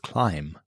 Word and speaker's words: climb: And what's the deal with climb? Why add a B if we're never going to say it?